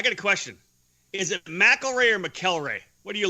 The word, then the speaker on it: McElrea: know why who knows maybe just my family always pronounced it wrong all these years no it's just stuck like that but my family is known as McElroy and your family names knows McElroy right you would know